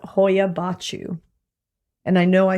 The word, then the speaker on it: Hoia Baciu: This forest is called Hoia Baciu. And I know I said that right because I checked up the pronunciation everywhere.